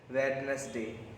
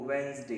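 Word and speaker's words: Wednesday: वेडनेसडे बिल्कुल गलत है, कहीं इसमें 1% भी करेक्शन नहीं है। तो आप इसको सही जाना, इसका जो सही उच्चारण होता है वो वेंसडे होता है, वेंसडे। उच्चारण देखिए इसका, या आप इसको बोल सकते हैं वेंसडे, वेंसडे, ठीक है। दोनों आपका सही प्रोनाउंसिएशन।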